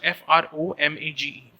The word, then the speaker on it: fromage: cheese cheese is what cheese cheese is from f-r-o-m-a-g-e fromage is is the is the french translation